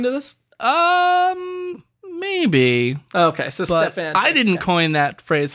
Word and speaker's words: Stefanchik: Legally I have to go by Stefanchik. Will your wife be listening to this? Maybe. Okay, so Stefanchik.